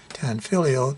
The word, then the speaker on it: Tanfoglio: Tanfoglio GT380. The G in Tanfoglio, by the way, is silent.